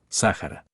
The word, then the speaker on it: Sahara: en un taut topónimo cuya pronunciación más cercana es Sahara geografía la mayor parte